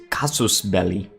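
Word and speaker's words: casus belli: CB actually I think the technical pronunciation is cosmos belly but we're gonna use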